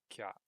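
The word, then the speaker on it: きゃ: And if you take a look at that first combination there, you can see we combine ki and ya to become kya.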